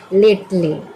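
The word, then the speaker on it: lately: अब अगला शब्द है लेटली। इसको पढ़ते हैं लेटली। तो ल से होगा ल। ए से होगा ए की मात्रा। ट से होगा ट। इ यहां पे साइलेंट हो गया है। यदि इ साइलेंट नहीं होता तो क्या होता? टे होता। लेकिन यहां पे साइलेंट है तो सिर्फ ट पढ़ेंगे।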